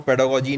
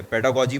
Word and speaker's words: pedagogy: बहुत सारे बच्चे, मैं आपको बताऊं, पेडागोजी नहीं बोलते हैं, वो पता नहीं इसको पेडालॉजी बोलते हैं और पता नहीं क्या क्या बोलते हैं दुनिया भर का। तो आप इसकी स्पेलिंग देख लो क्या है। पेडागोजी बोला जाता है इसको।